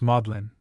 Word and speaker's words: Magdalen: At Oxford, the seed of learning, Magdalene is pronounced Modlin, probably in subtle tribute to the condition of the person who first pronounced it.